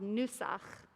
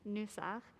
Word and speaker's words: nusach: It's called nusach. That's hard with my mask on, but that's spelled with an N, like N for Nancy, nusach.